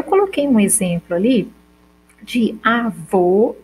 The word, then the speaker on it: avô: unidade sonora ou seja como eu digo só avô eu tenho um de que tu o tube e do ou quando eu digo avó eu tenho só do ar do v e do ó a diferença que uma é mais fechada que a outra ó já letra é a